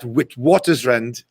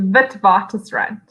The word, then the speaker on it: Witwatersrand: And you're finishing your honors degree in English literature at Witwatersrand.